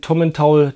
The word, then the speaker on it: Tomintoul: Nämlich heute probieren wir den Tommen Taul Tla, wird Taul ausgesprochen. Das ist die Einsteigerflasche von Tommen Taul, trägt keine Altersangabe und ist eine Mischung von verschiedensten Whiskys, verschiedene Altersangaben.